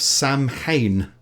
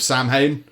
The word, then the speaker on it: Samhain: of the traditions of Samhain Samhain I think it's pronounced some like so in or something other the evening before